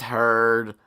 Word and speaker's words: Heard: to poop on beds her last name rhymes with turd it's heard Amber Heard yeah I know